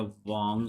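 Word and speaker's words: 王: So this part is basically, इसकी pronunciation होती है वांग से, होती है WANG, वांग करके कुछ होता है।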